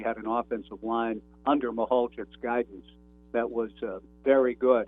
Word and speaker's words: Mahalchik: Yeah, it's actually pronounced Mahalchik, Jim Mahalchik, and he actually was Mahalchik. He was Mahalchik, and yeah, it's like trying to.